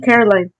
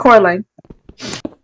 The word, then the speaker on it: Coraline: So you seen Caroline. Yeah. Coraline. Why you say it like that then? That's gonna bother me. It's Coraline. No, it's not. She even corrects people and says Coraline.